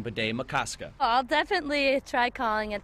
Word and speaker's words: Bde Maka Ska: neighbors will be working on adjusting to saying Bede-Makaskat. I'll definitely try calling it the new name if I can pronounce it correctly, but if that's what it's called, I'll go by it.